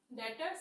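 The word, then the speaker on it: debtors: types का होता है डेटर्स एंड मिस अब आप लोग कहोगे मैम ये डेटर क्यों नहीं पढ़ते हो आप डेबिटर एडेप्टर हमेशा नहीं पढ़ा जाता डेटर्स होता है बी साइलेंट होता है जैसे साइकोलॉजी की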